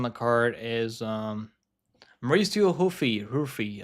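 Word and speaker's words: Ruffy: card is um Mauricio huy ruy I think it's ruy right ruy I think that's that's how you just pronounce it in the Brazilian Portuguese Mauricio ruy taking on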